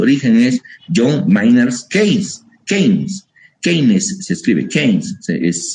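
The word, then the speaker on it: Keynes: bienestar en su origen es John miners Ke keines keines se escribe kees es se lee joher kees diseña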